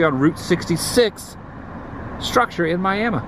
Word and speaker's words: Miami: Pronounced Miami. Took me a long time to ever get used to that. How people say Miami? Miami. People from this neck of the woods, Miami.